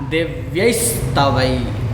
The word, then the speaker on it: दिव्यैस्तवैः: भी कर देंगे क्या, दिव्यैस्तवैः, दिव्यैस्तवैः। तो यहाँ पर भी स का उच्चारण होगा।